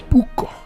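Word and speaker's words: ブック: But the way they would pronounce it is buko. Buko. Just adding vowels and syllables.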